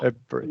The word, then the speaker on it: every: Now, Every. Yeah. yes, every business, right? You're never going to hear that middle syllable.